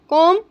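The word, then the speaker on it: comb: dressed बाल कंगी करना कम here इसमें बी साइलेंट है कम हेयर नाश्ता बनाना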